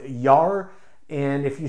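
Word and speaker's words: gjær: means is yeast now the standard word for yeast in norwegian is pronounced yar and if you spelled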